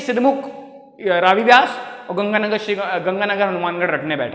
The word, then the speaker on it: व्यास: From the Ravi व्यास, BEAS आती है व्यास की स्पेलिंग, है ना, उसको 20 बोलते हैं वैसे हिंदी में।